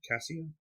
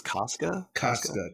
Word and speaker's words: Casca: How do you pronounce her name? Cassia? I think it's Casca.